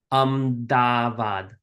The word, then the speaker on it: Ahmedabad: These capital D's, we're gonna pronounce them by biting our tongue. Ahmedabad, the Ahmedabad.